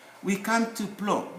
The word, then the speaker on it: plomb: We come to plomb, B. We come now to B. This is plomb. We write B, we don't pronounce it.